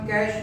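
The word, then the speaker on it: cache: Pronounce इसको कैश memory कहते हैं। क्या प्रोनाउंस करते हैं इसको? कैश। लिखा कैचे है बट इसको कैचे नहीं पढ़ना चाहिए, कैश मेमोरी पढ़ना चाहिए।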